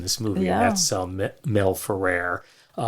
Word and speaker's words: Ferrer: movie and that's Mel Ferrer. Uh, I've also heard it pronounced Mel Ferrar over the years.